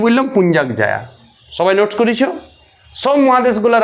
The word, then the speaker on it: পুঞ্জাক জায়া: ইয়ার নাম হচ্ছে পুঞ্চাক জা, উচ্চারণ শুনো, লেখাটা বোঝা যাবে, মানে পুঞ্জাক জায়া।